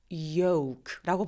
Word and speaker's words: yolk: K 앞에 있는 L 발음은 발음을 거의 안 합니다. 네, 그래서 walk처럼 쟤는 계란 노른자를 말하거든요. 그래서 쟤도 L 발음을 하지 않고 yoke라고 발음해 주시면 돼요.